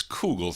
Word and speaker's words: Kugel: It is Mike Kugel. I guess that's how you pronounce it. You would think it would have another O because I see the K-O, so I say Ko, but it's Kugel.